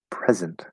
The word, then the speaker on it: present: Anyway, the verb to present and the noun present have the same sound, but different stress sounds. As I just pronounced them, yes. Or to present has a Z sound and present has an S sound.